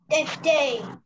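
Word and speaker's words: tête: Tete. Tet. The pronunciation of that word is tet.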